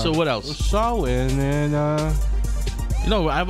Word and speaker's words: Samhain: The correct pronunciation. Samhain? Samhain. Samhain. It's Samhain.